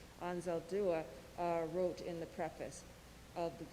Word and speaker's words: Anzaldúa: I want to share a few sage words that Anzaldúa, sorry, I've been mispronouncing her name, Anzaldúa wrote in the preface of This Bridge We Call Home.